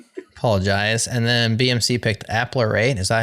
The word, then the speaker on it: Apparate: And then BMC picked Applerate. Is that how you pronounce that one, Matthew? Apparate.